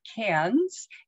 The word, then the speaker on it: Cairns: fly to cairns australia and that's how they pronounce it cairns and have a three-night stay there and then